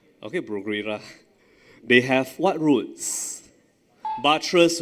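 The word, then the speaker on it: Bruguiera: Some students I know pronounce bra. It's pronounced as Bruguera. Okay, Bruguera.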